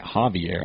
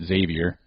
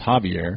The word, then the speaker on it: Xavier: I found out that's how you say it, Javier. I said it Xavier because it's an X. It's Javier.